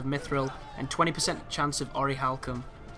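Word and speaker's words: orichalcum: and 20% chance of ory halcom or oricalcum as it should be pronounced uh I don't know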